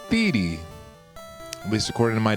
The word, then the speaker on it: Theedee: video and think about it did you think thigh did you think feed did you use the proper German pronunciation something like TAA well those are all wrong it's theti at least according to my dad and my